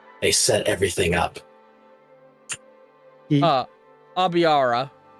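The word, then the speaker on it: Aibara: Aviara or a Aara. Aara cuz a I would be pronounced a right an A and an I next to each other. Yeah. So it's Aara.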